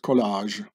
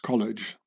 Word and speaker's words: collage: a color in France it's called collage in English it's been pronounced College like in America the college you know the that